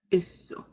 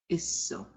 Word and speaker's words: isso: Isso. Isso. Double S, pronounce both letters. Isso.